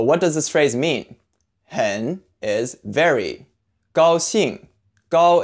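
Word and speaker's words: 很: meet you pronunciation breakdown hen sounds pretty much like the English word hen you can think of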